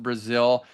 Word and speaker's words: Brazel: It's spelled Brazel. A lot of people say Brazil. It's actually pronounced Brazil. So people that know her, it is Brazil.